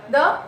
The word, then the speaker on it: the: द plus vowel यानी द plus elephant आ गया, या ये आ गया, या इसका आई आ गया, या, है ना. तो यहाँ पे दी, इसको प्रोनाउंस करेंगे दी.